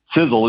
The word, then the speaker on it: Sisel: there in the name sizzle is spelled s-i-s-e-l for a lot of people they spell it s-i-z-z-l-e and i'll tell you what it's all it's not correct so s-i-s-e-l but the first letter